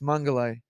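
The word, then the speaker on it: Mengele: I say this right it's mangalai and um I know it sounds [ __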